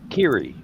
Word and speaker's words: Kiri: Is it Carrie or Curry? How do you say it? Kiri. Kiri. Kiri.